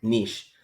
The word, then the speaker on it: niche: So, pag-usapan natin, what are remote jobs and niche?